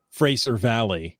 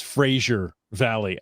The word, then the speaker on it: Fraser Valley: heard uh maybi Alik mispronounce Fraser Valley as Frasier Valley I recorded it on